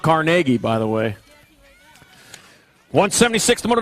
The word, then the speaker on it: Carnegie: know where that's at that's how it's pronounced carnegie by the way 176